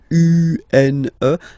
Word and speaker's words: une: Then the feminine article is here, and it's easier because if you have this U-N-E, then you pronounce it une.